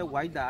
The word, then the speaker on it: Ouidah: Normalement, on devrait dire Quéda, mais compte tenu de la mauvaise prononciation des colonisateurs français, c'est pourquoi Quéda est devenu Ouidah.